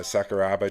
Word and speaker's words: Sakuraba: Sakurabara Sakuraba. Sorry, I always get that mixed. I always pronounce it wrong.